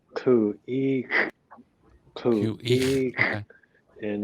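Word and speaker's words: Khu.éex': Yeah, you pronounce it Khu.éex.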